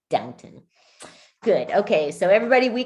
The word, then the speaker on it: Downton: i was like wait isn't it downtown like now it's downton good okay so everybody